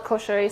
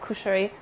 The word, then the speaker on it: koshari: You can call it koshari, some people call it kushari. I've seen it spelled with an o or a u.